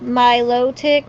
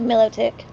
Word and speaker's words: Milotic: saying it right wrong because it's supposed to be said my low tick but I just always call it Milotic hey I'm I'm vibing